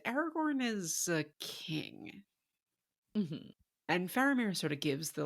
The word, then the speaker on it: Faramir: it wrong tell me again I say it faramir faramir faramir barir okay I was saying it right